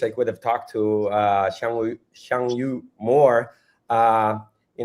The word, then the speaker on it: Xiangyu: Yeah, it was very interesting to listen to Xiang Yu, how do you pronounce his name? Shangu.